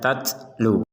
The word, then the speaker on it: تَتْلُو: Huruf ta harus ada nafas keluar sehingga dibaca tatlu.